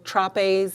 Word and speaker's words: Trapes: Used to have cans of groceries in the store, Trapes, it's spelled like trapeze, but that's no longer in our little town.